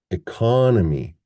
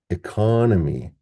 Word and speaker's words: economy: We get economy, economy. But in this one, we get economic, economic.